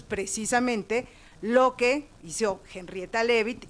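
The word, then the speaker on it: Leavitt: y como hizo Henrieta, se escribe Leabit, Henrieta Levit a ella le pagaron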